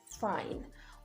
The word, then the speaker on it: fine: another syllable for instance in the word fine while the letter e is silent if you remove the letter e you have fin so you see it